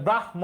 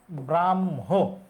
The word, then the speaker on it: ব্রাহ্ম: আছে ম আর হ আমরা যুক্তবর্ণ বিশ্লেষণ করলে হ যুক্ত ম লিখবো কিন্তু উচ্চারণের সময় ম আগে হবে কারণ বর্ণমালায় ম আমরা আগে পড়ি তাহলে ব্রাহ্ম হবে না এটা হবে ব্রাহ্ম এটা অজুহাত না এটা